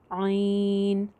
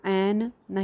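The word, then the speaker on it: عین: मद करके पढ़ना है इसका जो नाम है वह है आईन जबर या आई और आगे नून जो है वह साइलेंट करना है नून को बाउंस नहीं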